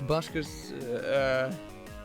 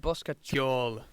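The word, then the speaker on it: Bosca Ceoil: For a more simple program, you could use Buskers, hold on. Basketball. Okay, so apparently it's pronounced Boskatjol.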